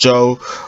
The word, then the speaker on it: Zhou: Yes, my second name is pronounced Zhou, but I do know that it's quite a hard second name to pronounce for some people in the world.